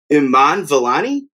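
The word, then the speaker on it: Iman Vellani: apologize i i don't actually know the correct pronunciation of her name i'm going to go with miss marvel's iman valani yeah yeah that is correct uh she was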